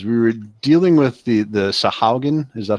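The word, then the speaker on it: Sahuagin: We were dealing with the Sahaugen. Is that how you pronounce it?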